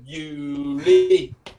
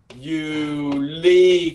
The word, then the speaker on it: Juli: Tháng 7 nó là Juli, Juli, kéo dài cái âm Juli nha, July đó, June, July, Juni, Juli nha.